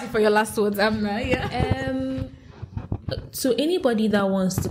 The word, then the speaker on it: Abena: And you said Abena, is that the full pronunciation? I'm saying Abena yeah, since.